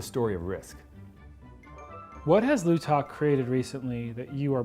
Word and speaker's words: Lootok: Many times, particularly on the phone, we'll have people spell it out. L-O-O-T-O-K. Lootok is a Native American word, and it comes